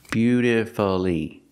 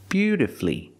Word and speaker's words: beautifully: played the guitar beautifully I cannot say beautifully beautifully four syllables is not correct we pronounce it with three syllables beautifully beautifully put the stress on your first and third syllable beautifully flee flee is the final syllable flee beautifully and of